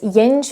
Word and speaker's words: jenž: Nominative case pronounced as yen or yen. Yen, but people usually say yen yen.